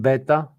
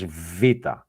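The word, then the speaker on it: βήτα: And we had those up here, and we know now, summing up the class, we know that this is alpha, this is not beta, this is vita.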